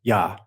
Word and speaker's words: Yah: We absurdly pronounce Jehovah or Jehovah is found in the 68th Psalm, written but with two letters and necessarily requiring to be uttered, but as one syllable. Oh, that's why it's confusing. Yah.